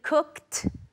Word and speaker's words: cooked: So I've already cooked, remember the pronunciation, just like pitched.